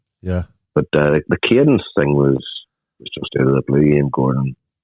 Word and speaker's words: Cadence: But now you're with Cadence. I pronounced that right.